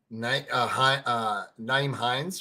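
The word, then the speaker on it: Nyheim Hines: Naeem Hines, right? Is that how you say it? Mm-hmm. Like, Naeem Hines.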